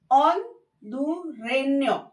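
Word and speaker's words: hondureño: मतलब nationality pronunciation, L ऑनडुरेन्यो, एल ऑनडुरेन्यो। Again आपने देखा होगा यहाँ पे एन के ऊपर उल्टा ऐसे, तो हमारा जो टंग है वो ट्विस्ट हो गया और न्यो की साउंड निकलता है, तो ये देखिए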